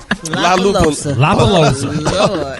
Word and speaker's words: Lollapalooza: Lollapalooza. You better remix that name, boy. You left out a few oh syllables, my gosh. It's Lollapalooza.